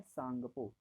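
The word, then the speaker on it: Tsangpo: क्या बोलेंगे, टी यहाँ साइलेंट रहता है इसलिए इसको बोलते हैं सांगपो।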